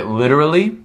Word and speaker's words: literally: litter ali literally perfect so a lot of times when we're speaking fast at the moment we say lid literally the t often becomes a d in the middle of a word so literally literally okay